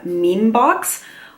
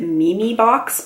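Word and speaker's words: Mimi Box: under a bigger label it's under the name mean box although I think they want you to pronounce it me me box but Emmy Emmy to me is mean in any case that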